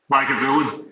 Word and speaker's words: Lagavulin: So there's 10 hours of Ron Swanson drinking, how do I pronounce it? Lagavulin? Lagavulin, yeah.